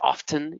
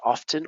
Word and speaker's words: often: t or the h usually often some people say often you can say often or often right guessed the use